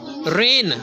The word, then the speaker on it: reign: इन हिज रेन, REIGN, रेन, तो इसमें G silent है, REIGN में। रीजन पढ़ने बताया ना, REIGN रीजन, तो रीजन में G साइलेंट हो गया तो बन गया रेन।